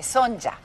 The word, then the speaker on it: Sonya: que pasa es que mi nombre obviamente se escribe con y y en venezuela todo el mundo siempre me dice sonia son verdad y en otro y en otras partes me dicen son ya yo me presento son